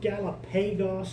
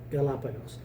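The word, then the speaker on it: Galápagos: syllable gets the accent so Galapagos rather than Galapagos or something like that Galapagos so what does Galapagos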